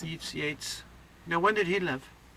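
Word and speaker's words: Yeats: that from Yates Yates which is often written yeets but it's pronounced Yates yeets Yates now when did he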